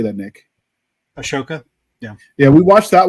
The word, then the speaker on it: Ahsoka: mean like we reviewed the O was it Ahsoka ahoka how do you say that Nick Asoka yeah yeah we watched that one but even